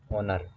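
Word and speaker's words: honour: यहाँ पे ए और एन की बात है, यहाँ पे शब्द दे रखा ऑनर, इसका उच्चारण होता है इस प्रकार से ऑनर।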